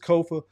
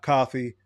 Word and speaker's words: Kofa: I have been your humble host, Kofa, Kofa, not coffee, not, not Kofi, or any variation thereof. Kofa rhymes with sofa, easy to say, easy to spell.